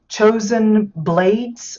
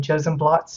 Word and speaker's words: Chosen Blades: don't know why but I kept saying chosen blots and then I realized it was probably blades B A DZ um